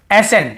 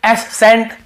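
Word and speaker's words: ascent: को नहीं पढ़ते हैं जैसे देखिए एसेंट हम क्या पढ़ रहे हैं एसेंट यहां पे एस सेंट या एस कैंट ऐसे नहीं पढ़ रहे हैं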